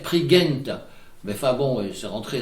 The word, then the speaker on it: Prigent: Et un petit mot sur Dénes Prigent, qui est maintenant très connu, dont, comme il le dit, la bonne prononciation devrait être Prigent.